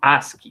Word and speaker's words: ASCII: interessante como detalhe né aqui é geralmente pronunciado como Ask Tá certo então é